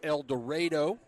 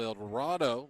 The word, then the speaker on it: El Dorado: will, of the South Arkansas Lady Stars from El Dorado, Arkansas, as I got the confirmation that is how it's said there in Arkansas. I know in other places of the world it's called El Dorado, but not in Arkansas, apparently.